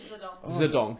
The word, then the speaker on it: Mao Zedong: than Mao Zedong? Zedong. That's how it's properly pronounced.